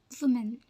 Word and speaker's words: women: it this way but the correct way to say this word is women women wom women in a singular